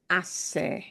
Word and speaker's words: hace: The H will make no sound at all. It is spelled, but not spoken.